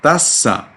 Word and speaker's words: tassa: that's good but your tasa in the second syllable was too long must be nicely short all right but